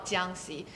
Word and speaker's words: Jiangxi: And if you guys can't pronounce the location, it's called Jiangxi.